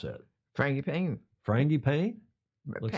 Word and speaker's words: frangipane: How do you pronounce that? Frangipane.